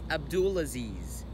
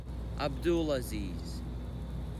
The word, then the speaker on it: Abdulaziz: Apparently, some people in Texas don't know how to pronounce my name. It's Abdulaziz. Abdulaziz. Abdulaziz.